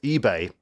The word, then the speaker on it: Ibe: came from Liverpool um he wanted his name to be Jordan I now he has Nigerian Heritage and it would have been pronounced eBay in Nigeria so consequently you can't win I would say I because that's what the player wants but then I'd get